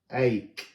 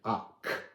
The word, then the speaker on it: Ac: Ache. Ache. Ache. It means oak, but it's pronounced like acorn, ache. But I actually prefer to say uck, uck.